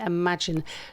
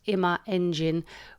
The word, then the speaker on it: Imaengine: in my engine wrong and been calling it imagine so apologies for that but it's actually pronounced ima engine which is a bit of a mouthful but